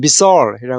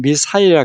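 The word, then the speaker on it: missile: 요거는 미국 발음은 미사일이라 그러고 영국 발음 미사일이라 그럽니다.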